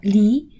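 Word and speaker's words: 梨: avec les chinois car à partager une poire et se séparer se prononcent de manière identique en mandarin fin lee les couteaux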